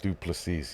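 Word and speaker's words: du Plessis: I pronounce everybody's name wrong. Duplessis. Duplessis, yes.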